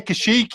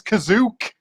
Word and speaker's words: Kashyyyk: this stuff uh but it doesn't say kashyyyk he says kazook and i really